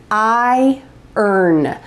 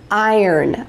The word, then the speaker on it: iron: Notice the pronunciation, iron, iron, iron.